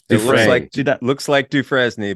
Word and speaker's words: Dufresne: it yeah it's tough It's Dufresne but yeah it's like Andy Dufresne from Shawshank Redemption okay is that French